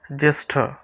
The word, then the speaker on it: জ্যেষ্ঠ: হবে জিজ্ঞেস জিজ্ঞেস জেষ্ঠ এখানে হচ্ছে এই যে মূর্ধন্য স মানে পেট কাটা স যেটা বলি পেট কাটা স আর ঠ দুইটা মিলিয়ে প্যাটক্রাশ ঠ দুইটা মিলে হচ্ছে এখানে এই যে অক্ষরটি দুইটি অক্ষর রয়েছে উচ্চারণ হবে পুরাটার জ্যেষ্ঠ জেষ্ঠ উত্তর উত্তর এই যে